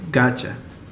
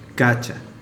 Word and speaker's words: gotcha: the time we say gotcha, gotcha. So we have that T followed by a Y, and these two sounds morph into a ch sound, gotcha.